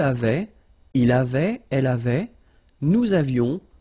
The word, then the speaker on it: nous avions: Nous avions, let's make this beautiful liaison here.